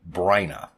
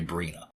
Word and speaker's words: Bryna: Also, yes, I realize that E.G. Marshall pronounces her name Bryna, but I choose to say Bryna, because I think that's how it should be pronounced.